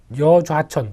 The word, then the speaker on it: 여좌천: 그 밖에 지역들이 창원의 그 진해 쪽에 가다 보면은 어떤 놓치지 말아야 될 여러 가지 명소가 좀 있는데 벚꽃길 하게 되면은 여좌천 발음이 잘해야 됩니다.